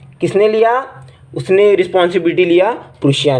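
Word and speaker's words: Prussia: मतलब from then onwards, मतलब इसके बाद प्रूशिया, यार पर्शिया मत पढ़ना इसको, बस गूगल पे सर्च करके देखो प्रोनाउंस कैसे करते हैं। प्रूशिया कुछ अलग ही बोलता है वो तो।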